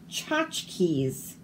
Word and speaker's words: tchotchkes: The charging tsunami washed away all of Tchaikovsky's tchotchkes. So we don't say the T.